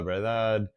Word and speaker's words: verdad: A pronunciation note for this one is that oftentimes the second D might be a little bit softer, and you might not even hear it, and you might sound more like verdad, verdad, because the